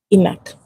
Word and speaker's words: ENaC: That's pronounced ENaC.